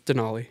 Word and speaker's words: Denali: It's Denali. Denali. Yeah, that's okay. Some like mass roots coming through. Yeah, the mass. There's no Duncan D's up there. Fucking Denali guy. You fucking Denali.